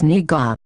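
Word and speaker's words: 네가: 내가, In order to distinguish the pronunciation of 내가, and 내가, from each other, which technically should be pronounced the same, 내가, is pronounced as niga.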